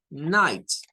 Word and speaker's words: night: Recordarán que hemos dicho que night, el G-H-T de night, a nivel de un fonema, suena la I y la T, night, así nada más, night. La I-G-H suena a I, I-G-H suena a I.